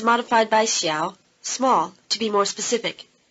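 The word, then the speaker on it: 小: here it's modified by xiao small to be more specific repeat small pastries notice that the low tone of xiao changes to rising tone before the low tone of the following syllable the chinese unit of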